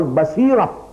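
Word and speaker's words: بصيرة: That is which we call basira. Basarat and basirat. We pronounce it like that in Urdu. But in Arabic, basara and basira.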